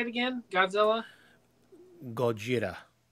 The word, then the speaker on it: Gojira: what what is the Japanese for uh Godzilla Goa say Goa g o j i r a or something